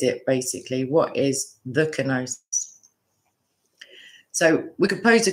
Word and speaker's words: kenosis: But kenosis is the pronunciation I'm going with.